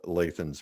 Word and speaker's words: Lathan: Chuck's got it on Lathan's page, and that's Lathan as in Nathan, but with an L, just so you'll know that we're saying it correctly.